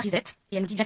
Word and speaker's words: reset: Une auditrice nous dit qu'il vaut mieux prononcer reset et non pas reset, et elle nous dit bien courtoisement.